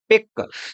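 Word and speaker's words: pick: जैसे यहाँ दे रखा है पिक, तो यहाँ सी हमारा साइलेंट है और हम पी आई के को पिक ही बोलते हैं।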